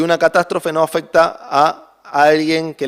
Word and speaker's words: catástrofe: El término perdición en griego, en el original es catástrofe. Tiene el tilde en la E, entiendo que se pronuncia así.